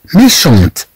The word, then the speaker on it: méchante: إذا نتكلم عن رجل شرير طبعا في المؤنث نقول méchante c'est une femme méchante. طبعا نضيف هنا فتنطق الطي ملي ما تنزيدوش هنا ما تتنطقش الطي.